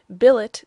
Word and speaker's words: billet: mind scen melamine mankind Billet does not rhyme with ballet bouquet wallet Mallet Chalet